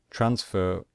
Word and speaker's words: transfer: IDI so for example transfer transfer we stress the first syllable so we do not